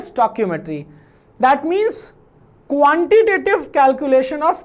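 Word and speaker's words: stoichiometry: What is chemical स्टोइकियोमेट्री, इसको pronounce कैसे करते हैं, स्टोइकियो, ठीक है, मेट्री, ठीक। तो दिस इज स्टोइकियोमेट्री।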